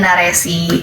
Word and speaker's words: Naresi: itu sebenarnya kayak dari narasi tapi jadi naresi. Itu kan apa sih nama hurufnya, I don't know, kayak E-nya S pak gitu, jadi kayak naresi.